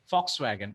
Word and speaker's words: Volkswagen: Okay, but the pronunciation is Fox. Okay, Volkswagen.